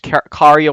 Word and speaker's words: Kari: who first so long I thought it was Carrie Walgrren until she was on Tuned in with Jim Cummings. Apparently her real name is K is pronounced Kari but whatever.